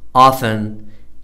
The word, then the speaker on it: often: Fetch, Stretch, Scratch, Hatch It is also silent in the following words. What are the words that are PTT silent? Whistle, listen, castle, often, Christmas, wrestle, fasten, mustn't, T is silent.